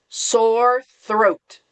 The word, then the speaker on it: sore throat: All right, my student's favorite one to pronounce, sore throat. Sore throat. Sore throat. So remember on Throat. Sore throat, throat. stick out your tongue.